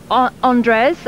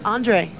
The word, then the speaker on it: Andres: into the video for Andres. And Andre. Andre. And the S is silent in America. Well, thank you for correcting me there. That's the American pronunciation.